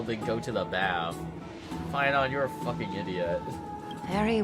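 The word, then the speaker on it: Phainon: Finon, no wonder he's called Finon. It rhymes with Paimon.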